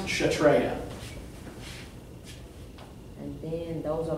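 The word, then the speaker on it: Kshatriya: okay it's spelled like this and it is pronounced chatreya and those are like the Warriors yeah so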